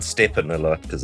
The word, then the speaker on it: Stephen: Some people have trouble when they see the name, how to pronounce the first name, which I always think is easier of the two.